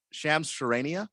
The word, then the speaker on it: Shams Charania: Shams Charania?